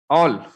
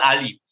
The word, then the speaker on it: Aul: All, okay. All, AUL. AUL in district Kendrapada. All. Popular name is Ali, but in the Ali, English pronunciation is all.